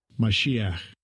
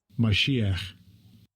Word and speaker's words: Mashiach: Mashiach. Mashiach. So Mashiach is the way you would say it in Hebrew, which is the word for anointed or Messiah.